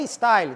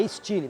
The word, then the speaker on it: Style: Coincidentemente, estilo em francês se escreve como em inglês e se pronuncia, obviamente, diferente.